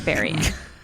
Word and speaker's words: burying: I hate this word. Burying because it's spelled burying. I practiced it at home. Burying. It's burying.